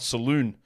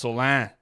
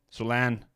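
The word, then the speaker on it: Salaün: name it is not Saloon it's not Salon it's Salan it's a French name Solan he IED in 15th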